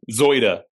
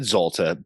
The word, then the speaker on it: Zoida: How do you say it? Zoida. Zoida, and I said Zolta, but what are you gonna do, dude?